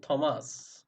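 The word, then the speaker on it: Thames: ট বা ঠ কখন হচ্ছে থমাস, থমাস, থেমস, থেমস, থেমস, like দ্যাট, ঠিক আছে।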